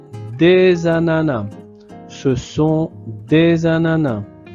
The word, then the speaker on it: ananas: Donc ici, il y a une liaison entre le S et le A. Donc, on crée la voyelle euh orale za des ananas sans prononcer le s final.